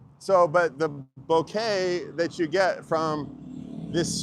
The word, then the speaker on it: bokeh: I've never heard it pronounced that before. Boca, Buca. It's Bokeh. It's b o k b o h k e h. Bokeh. Let's Let's see if we can change it. It's not Boca.